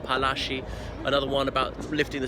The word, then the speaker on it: Palashi: The illustrations around the back of him in the mango tope the night before the Battle of Plassey, which is actually a British mispronunciation of Palashi, another one about lifting the siege of Arcot, and so on, and many other magnificent military feats.